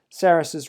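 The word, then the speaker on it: Sarrus: three is often called saris's rule that's actually uh how it's pronounced in english it's a french name but it is saris's rule in english that's very very often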